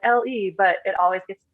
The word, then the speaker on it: L.E.: And so I was just like LE, but it always gets pronounced like Lay Photo Design.